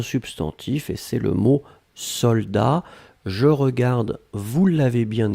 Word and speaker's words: soldat: et c'est le mot soldat. Je regarde, vous l'avez bien écrit, attention save the best, soldat avec un T final, on ne prononce pas le T, mais logiquement il devrait être là, d'accord?